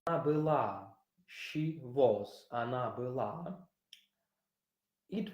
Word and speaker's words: была: You remember that o in a syllable that is not stressed is pronounced like a. That is why we have она была. You see, its stress is here. Она была, she was.